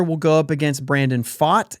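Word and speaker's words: Pfaadt: go up against Brandon fought and that is p-f-a-a-d-t aught that's like saying Mitch Keller pronounces his name Smith okay it's not quite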